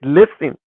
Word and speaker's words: listen: In the word listen, it's not listening, it's listen. The T is silent.